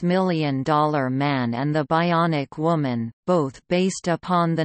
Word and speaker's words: bion: Steele in 1958, possibly originating from the technical term bion, pronounced bion, from ancient Greek, bios bios, meaning unit